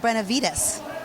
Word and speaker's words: Benevides: And we have Glenda Benevides.